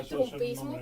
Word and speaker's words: trumpismo: tiene que, o sea, habría que mantener la mantener la u. y decir trumpismo porque también sí y